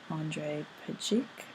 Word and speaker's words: Andrej Pejic: which is what genderqueer chat folks make of Andrej Pejic, I think is how you pronounce his name, which was submitted by Witherg.